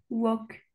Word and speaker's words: walk: Prononce jamais le L. Ah d'accord. Jamais. Vas-y, essaie de me les redire. Could talk, walk.